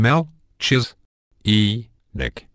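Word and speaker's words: Melchizedek: is given a hard Cas sound as in Mel chis e Nick ways to improve many who have a problem with pronunciation are not aware of it if your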